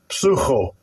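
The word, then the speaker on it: ψύχω: Psucho. Sounds like the word psycho.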